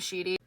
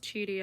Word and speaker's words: Cheety: Like Avery um is married to this woman named Cheety. It's actually pronounced cheaty.